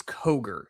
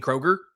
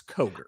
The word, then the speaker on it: Coger: It's not Kroger, it's Coger. I I initially thought it was Kroger as well.